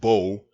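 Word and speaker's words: בוא: from the verbal root ba wa in ah pronounced bo which means come and ya bo means he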